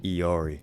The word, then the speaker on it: Illari: Next up, we got Illari, or I guess how you're supposed to pronounce her, Iari.